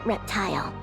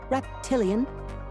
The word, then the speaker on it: Reptilian: Tell me something, reptile. Reptile. My name's Reptilian.